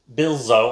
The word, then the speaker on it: Buzio: by a company called bill bilzo i think is how you pronounce it uh b-u-z-i-o uh and